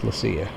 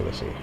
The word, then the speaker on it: Leccia: So I went to the source and I asked him, and he said it's Leccia. So now I know that I'm saying it correctly when I say Leccia.